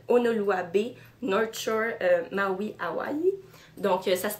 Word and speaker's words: Hawaii: C'est écrit Exotic Paradise, Honolulu Bay, North Shore, Maui, Hawaii. Donc, ça se prononce bien Hawaii et non pas Hawaii, sans prononcer le I. Il faut dire le I à la fin, c'est important.